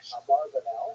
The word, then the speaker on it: Abravanel: Many people pronounce his name Abarbanel, and that's because of the, it's much easier, as Stephen says, it's much easier to rhyme the song, the name Abarbanel, talking about a strong Abravano or Abravano.